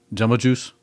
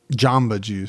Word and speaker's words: Jamba Juice: A jumbo juice? Jamba juice. Or jamba juice, as you would pronounce it.